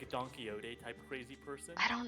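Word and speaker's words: Quixote: kind of like a donkeyote type crazy person. I don't know. Don don donkeyote. It's spelled like quick soap, but it's not pronounced that because Spanish water.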